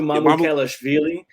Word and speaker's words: Mamukelashvili: It's Sandro Mamukelashvili. It actually looks like it's spelled.